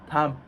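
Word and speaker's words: תם: Tam. Tam means simple in Hebrew. T-A-M? Yes. And what do we mean when we say Tam, simple person? We know Yaakov, he was Ish Tam Yoshev Oalim, the pasuk says.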